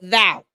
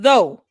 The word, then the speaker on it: though: You put thou.